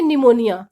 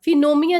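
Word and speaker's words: pneumonia: रहा है तो हम पी को नहीं बोलेंगे पी को साइलेंट रखेंगे इसको हम बोलेंगे निमोनिया fironia नहीं बोलेंगे पी को हम साइलेंट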